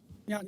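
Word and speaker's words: Jan: Yan, you want to come up here? State your name and address for the record, please. Good afternoon. Yan. Yan is spelled J an A.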